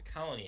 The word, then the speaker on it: Koloni: First thing you're going to need to do is go to your app store and download the Colony app, and that's spelled Koloni.